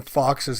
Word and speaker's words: Fawkes: The name Foxes and Guy Fawkes is pronounced Fox.